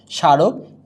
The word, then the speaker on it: স্মারক: মফলা যদি শব্দের শুরুতে ব্যবহৃত হয় তাহলে ময়ের উচ্চারণ হয় না, তবে ময়ের পরিবর্তে কি হবে, নাসিক্য হবে, মানে চন্দ্রবিন্দু হয়। যেমন স, এই গেল এই স শান, স্মারক, এই হলো সা রুখ,